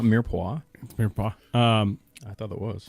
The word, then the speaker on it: Mirepoix: Mirepoix.